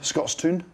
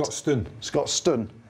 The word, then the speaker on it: Scotstoun: And Montpellier, the big boys of Montpellier, went up to Scotland, Scotstoun, that's how you say it. Scotstoun is how you say it.